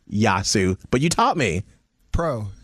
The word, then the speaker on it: Yiasou: to experience here in Charlotte and it's the yasu Greek festival which I learned how to say